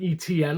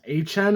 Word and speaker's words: Etienne: Their biggest additions, David Edwards, good guard signing, Travis Etienne, I think that's how you pronounce his name. It's not Etienne like we've all been saying for years. It's Etienne apparently.